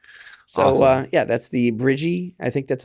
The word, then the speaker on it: Brigii: uh yeah that's the bridgie I think that's how you pronounce it b r i g i i so that's bridgie uh and that's the